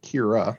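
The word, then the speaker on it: Kyrah: it so just like just like this woman kira yes who is spelled k-y-r-a-h k-y-r-o-s so got it okay um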